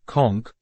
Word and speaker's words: conch: of biology and paleontology kch pronounced conk refers to a variety